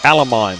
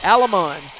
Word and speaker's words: Alamon: Pronounce her last name again? Alamon. Alamon. All right, just like it's written.